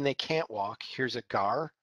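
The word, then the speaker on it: gaur: can't walk here's a gar right here i know it's spelled g-a-u-r but it's pronounced gar like the fish this is the largest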